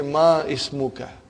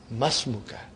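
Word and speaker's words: اسمك: masmukha remember hamdul wasan it will be incorrect to say ma ismuka you should say masmuka comes in the beginning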